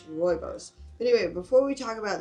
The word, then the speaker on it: Rooibos: It's Rooibos.